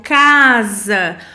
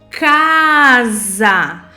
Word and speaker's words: casa: Nesse caso, por exemplo, casa, fala para ela, o S tem o som do Z, mas na grafia ele é escrito com a letrinha S. Então, casa.